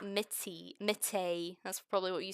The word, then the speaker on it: Mitty: So her name is Mitty, not Mitty.